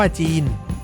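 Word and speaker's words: Gênes: จาก ชาว เจนัว โดย ใน ภาษา ฝรั่งเศส ออก เสียง เรียก เมือง เจนัว ว่า จีน รวม ถึง สินค้า ต่าง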